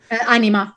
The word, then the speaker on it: anima: anima right yeah and i'm sure i'm pronouncing that wrong because i'm not italian anima animal because it's an italian word okay cool thank you